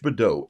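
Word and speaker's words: badaud: Being Badeau, B-A-D-O-T, it's pronounced B-A-D-O-H, Badeau.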